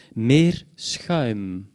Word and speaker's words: meerschuim: Bart m'a dit tout à l'heure que c'était le son le plus difficile à prononcer en néerlandais pour quelqu'un qui ne parle pas néerlandais.